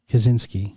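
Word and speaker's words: Krasinski: beautiful I loved it John what's how you pronounce his name John say siki no kazinski Kaz what kazinski kazinski he's he was the writer director absolutely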